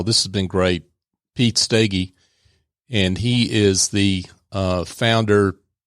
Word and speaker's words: Steege: My name's hard to spell, like it's hard to pronounce, but maybe I'll do that real quick. It's Pete Steege, Steege.